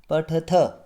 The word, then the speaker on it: पठथः: यहाँ द्विवचन में विसर्ग का प्रयोग होता है तो इसका उच्चारण पठथः, और बहुवचन में पठथ। सिर्फ विसर्ग के कारण यहाँ द्विवचन और बहुवचन का भेद पाया जाता है।